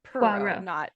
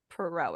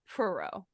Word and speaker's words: Poirot: So she's like, I think the emphasis is on the first part of Poirot. So it's Poirot, not Poirot. It's Poirot.